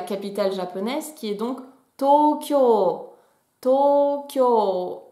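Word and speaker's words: 東京: la ville de tokyo ne se prononcent pas tokyo mais bien tokyo il a deux allongement sauf que en caractères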